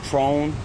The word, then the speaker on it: Tron: y'all doing what's your name my name is trone an my name is Tron spelled t-r-o-n last name m as in